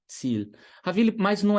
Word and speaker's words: Ziel: Terceiro padrão, a letra I mais a letra E. Então, I mais E. Soa como I em alemão, na esmagadora maioria das vezes. Quer ver um exemplo? A palavra Ziel. Ziel.